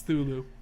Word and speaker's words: Cthulhu: a baby i mean cthulhu no i mean thulu who the is that's how it's actually pronounced children children go look it up because i've had this argument one too many times it's thulu anyway you want to see monsters yeah i